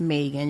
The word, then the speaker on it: Megan: My mom would say, no, it's Megan.